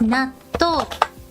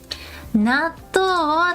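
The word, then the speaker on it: 納豆: This is how you write and pronounce 納豆。納豆を食べたくない。納豆です。 If you say 納豆, it sounds like N-A-T-O 納豆。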